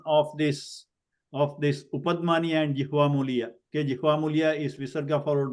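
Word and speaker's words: जिह्वामूलीय: Okay, so that sound is called jihvamuliya. So visarga is also, when it is followed by ka and kha, it is pronounced by like kind of sound, like a throat clearing kind of sound.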